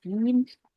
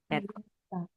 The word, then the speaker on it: Dienstag: Kalau IE bacanya I tapi panjang, agak panjang. Jadi Dienstag. Dienstag.